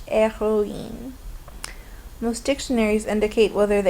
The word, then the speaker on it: héroïne: But the H in héroïne is silent. We don't pronounce the H, héroïne.